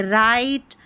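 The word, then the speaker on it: write: जब W और R साथ में आता है तो इसको र पढ़ते हैं, ये रहा उच्चारण, र पढ़ते हैं WR को, और W इसमें साइलेंट रहता है।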